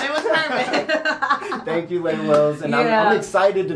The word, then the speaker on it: Lay Wills: I almost said her name wrong, but I'm not gonna say it wrong because it's Lay Wills, the one and only, the legendary Lay Wills.